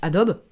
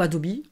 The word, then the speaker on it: Adobe: avec des logiciels de la suite Adobe, ou Adobe, ça dépend comment vous le prononcez.